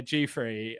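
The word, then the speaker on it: Giuffre: But there's I mean there's also um Virginia Grey. Um I'm pronouncing it Grey because that's how Americans pronounce it.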